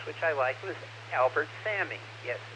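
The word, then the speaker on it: Salmi: I liked was Albert Sammy yes s-a-l-m-i the L is silent he played Jose Ortega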